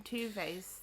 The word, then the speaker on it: Tove: Tuve's, like... I want to say... They're Finnish, that's it, because Moomin lands in Finland. Swedish-speaking Finnish illustrator Tove Jansson made them. Tuve, you pronounce it.